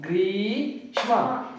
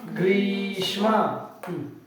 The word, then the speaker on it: ಗ್ರೀಷ್ಮ: ಗ್ರೀಷ್ಮ green ಶ್ಮ ಗ್ರೀಷ್ಮ ನೋಡಿ ದೀರ್ಘ ಸ್ವರ ಇರುವಂತಹ ಗುಣಿತಾಕ್ಷರ ಆಗಿದೆ ದೀರ್ಘವಾಗಿ ಉಚ್ಚಾರಣೆ ಮಾಡಿ ಗ್ರೀಷ್ಮ ಗ್ರೀಷ್ಮ ಜಿ ಜಿ ನ ಇದು